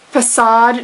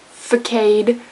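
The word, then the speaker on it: façade: you hate that one facade not fade that one's bad helian days not helan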